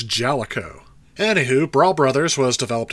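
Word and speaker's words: Jaleco: did you hear that I finally know how to pronounce this it's Jellico anywho brawl Brothers was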